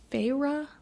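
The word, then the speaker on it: Feyre: It's Fra and it says it in the book.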